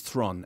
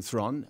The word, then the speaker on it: Theron: But they said now it rhymes with heron. And I'm thinking, well, last time I spoke to you, which you won't remember, but I remember very well you said Theron. Listen. So rhymes with prawn.